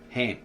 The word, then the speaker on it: Ham: Well, it's actually in the original ancient Tav Estra, Brita Cam, it's got Kham, but it's actually pronounced Ham.